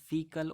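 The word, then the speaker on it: faecal: फेशियल oral route, फेशियल आपको पता है फीकल method, rather the correct pronunciation is फीकल oral route.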